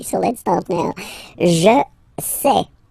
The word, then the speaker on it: sais: Je sais. Okay, final S not pronounced, and then you get this A-I-E.